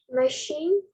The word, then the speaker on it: machine: Machine. Machine, yes. MACHINE, right? Machine. So CH also, right? CH, SH, SSCI, TI. So these words will be included sharp sound in pronunciation.